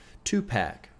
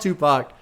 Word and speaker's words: Tupac: Track 6, which is called 2-Pack. Right? 2-Pack? That's how you say it? Because I can't help it. Every now and then I have to say some shit that infuriates people. It's called Tupac, produced by Nard and B.